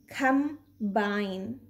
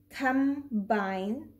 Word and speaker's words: combine: not pronounce b but when m and b are next to each other but in different syllables we do pronounce b like in combine this